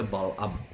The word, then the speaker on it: Bileam: Jadi kalau dalam bahasa Arab itu Bileam itu dibacanya Bal'am.